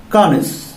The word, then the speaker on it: connoisseur: इसका right pronunciation है कॉनिस, कॉनिस, कॉनिस इसका राइट प्रोनाउंसिएशन है।